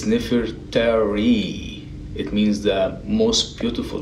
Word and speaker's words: Nefertari: It's Nefertari.